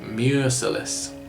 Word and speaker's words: Merciless: Mure being the old Celtic word for the sea, basically. So Mure and Mercy, less Merciless. It's without mercy, it's merciless. And also less Merciless, sort of rhyming with Ness, like Loch Ness Monster, which is what it's